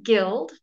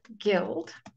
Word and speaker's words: guild: and because two does not isn't you don't pronounce the W fantastic absolutely excellent I didn't mention that one guild guild guile hmm Kyle Kyle rogue I missed that